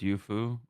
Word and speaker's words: Yufu: Is it pronounced Yufu or Yuzu? Yeah, it is Yufu.